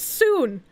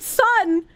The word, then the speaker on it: Son: the word sun and instead of pronouncing it sun like I should I pronounce it soon and why do I